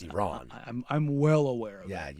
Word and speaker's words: Iran: It's more fun when you say Iran. No, because makes everybody. It's pronounced Iran.